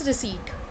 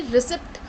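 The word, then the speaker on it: receipt: Fees रिसीट। ठीक है। एक तो इसे कभी भी रिसिप्ट नहीं बोलते हम लोग। ठीक है। रिसिप्ट प्रोनाउंसिएशन इसकी बिल्कुल गलत है, हम इसे बोलते हैं रिसीट। P is silent.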